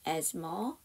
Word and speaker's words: asthma: asthma에서 th가 묵음이에요. 발음이 안 나요. This is actually a time when asthma, flare-ups, and hospitalization tend to significantly increase and especially in our children.